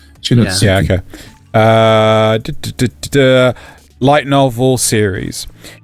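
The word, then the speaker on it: Shinotsuki: Is that, do you pronounce the T? Yes. No, it's like Suki. T-S-U, Shinosuke.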